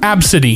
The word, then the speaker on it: ABCD: ABCD pronounced Absidy.